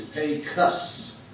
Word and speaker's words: Pecos: the way we say it in texas is pay cuts you have to get the cuss so what